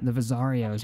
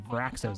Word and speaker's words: Vraxos: Now, of course, the Vazarios or Vraxos, actually Vraxos, that's how you say it.